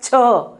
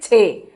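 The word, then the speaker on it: छह: So 6 in Hindi it is pronounced as ch, but in slang or in everywhere we call it che. So ch is correct pronunciation, but no one says ch, it is che. So I'll write both for you. Ch, it is correctly pronounced, and it is said che.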